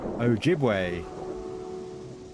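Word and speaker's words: Ojibwe: The stress is on the second syllable. Okay. Ojiway.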